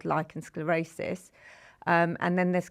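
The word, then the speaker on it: lichen: And you mentioned there lechin sclerosis which I think is that did I pronounce it properly? Lychen sclerosis. Oh yes, lychen sclerosis. There we go.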